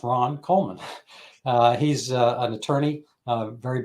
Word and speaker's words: Ron Coleman: honored to have with me Ron Coleman it's pronounced Ron Coleman uh he's an attorney very bright Guy and